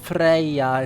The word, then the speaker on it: Freyja: It lengthens it, so it's Freyja instead of just Freya.